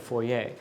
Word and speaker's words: foyer: Somebody somebody on Instagram was getting mad at me for pronouncing foyer as a foyer instead of foyer. So I'm now pronouncing it as the proper French foyer.